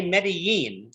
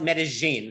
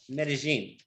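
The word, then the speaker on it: Medellín: of this province, say Medellin. The double L in Medellin is pronounced like a Y. But the people of this valley, called Paisas, call it Medellin. So that's how we say it, Medellin.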